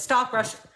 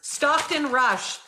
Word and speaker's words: Stockton Rush: um stock sounds funny when I'm saying it stop Rush am I saying it right rushed it no my God hold on I'm saying his name wrong now I've said it too many times Stockton Rush this is Stockton Rush this is him inside